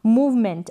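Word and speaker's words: movement: देख लें जैसे की यहां पर है मूवमेंट अब यहां पर मूव मेंटल सी तक वर्तक आप प्रोनाउंस कर रहे हैं ए यहां पर साइलेंट है और फिर हो गया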